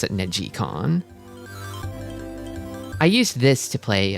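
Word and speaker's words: neGcon: It's spelled Neg Negggaon, but you pronounce it negon.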